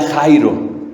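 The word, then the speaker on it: χαίρω: la traducción al español se escribe como chairo y no tiene actuar con los charros y los oficios que fueron a eso no pero se pronuncia jairo y esa palabra fíjate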